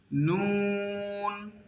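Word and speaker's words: نون: শুকনা টুট থেকে মিম, নুন, জিহ্বার আগা দাঁতের গোড়া, এরপর মুখটা একটু রাউন্ড হয়ে যাবে।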